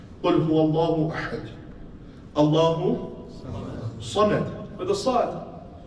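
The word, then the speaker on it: صمد: But sometimes I'm lazy, I can't be bothered to pronounce the Sad. So I say Samad with a Sin, I don't pronounce the Sad. Meaning changes now.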